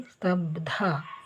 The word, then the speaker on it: ಸ್ತಬ್ಧ: ಬಗೆ ಧವತ್ತು ಸ್ತಬ್ದ ಇಲ್ಲಿ ಕೂಡ ಮಹಾಪ್ರಣವ ಉಪಯೋಗ ಇದನ್ನ ಯಾವುದು ಉಚ್ಚಾರ ಮಾಡಬೇಕು ಅಂತ ಕೂಡ ಕೇಳ್ತಾ ಇದ್ರಿ ಇಲ್ಲಿ ಸ್ತಬ್ಧ ಇದನ್ನೇ ಉಚ್ಚಾರ ಮಾಡಬೇಕು ಧಗ ಸ್ತ ಸ ನಂತರ